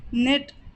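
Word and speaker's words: knit: कारण बताना किस चूमना निट बुन्ना यहां पर की के साइलेंट होगा एंड एनआईटी का प्रोनंसिएशन करेंगे तो निट का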